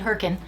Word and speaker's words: Hurricane: George Hurricane. Yes, that's right. I said Hurricane. That's how you pronounce it according to the locals.